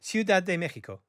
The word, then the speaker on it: Ciudad de México: uh and then i asked him how to pronounce it and already i think ciudad de mexico just how are you yes i'm foreign i